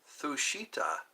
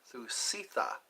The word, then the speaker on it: Thusitha: Thushita. That's what it looks like. Thushita. Thu. T-H-U. Stitha. Thustitha. Thustitha. Yeah. T-H-U-S. Sitha. Sitha. Thusitha.